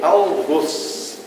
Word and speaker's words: algoz: Algoz, palavra oxítona cuja pronúncia do O deve ser fechada como arroz.